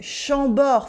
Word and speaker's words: Chambord: In Chambord, for instance, the D is silent at the end.